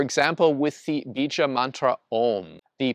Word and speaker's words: Om: So Om is not pronounced as in English, Om. It is pronounced Om.